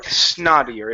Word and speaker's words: snottier: This word is snottier or snottier. If you want to use an American accent, switch this to a D sound. It's snotty, Okay.